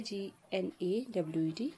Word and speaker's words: gnawed: But still something was, G is silent here, G-N-A-W-E-D, gnawed.